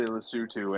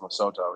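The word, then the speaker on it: Lesotho: just like just like I say lutu and everybody else says loto even though it's lutu what the country of lutu is pronounced as lutu but everybody says loto for some reason I also say that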